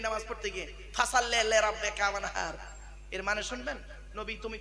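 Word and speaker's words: وانحر: ওয়ানহার, ওয়ানহার, এই গলার ভেতর থেকে হাইটা উচ্চারণ হবে, হাই ওটি, হাই হাওয়াজ নয়।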